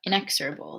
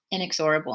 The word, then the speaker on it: inexorable: will add is that emily was right about inexorable the pronunciation of inexorable i guess i had never said it out loud before and i always said it inexorable in my head but that's not right then the tingling began